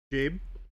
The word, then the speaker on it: Gabe: It's just a soft G.